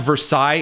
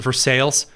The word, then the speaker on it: Versailles: Like we don't have Versailles, Indiana. We pronounce it for sales Indiana.